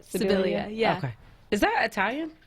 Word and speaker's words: Sibilia: Sibilia, yeah.